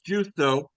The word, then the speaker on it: Giusto: It's Justo, but I'll take Justo, whatever. Justo, that's right.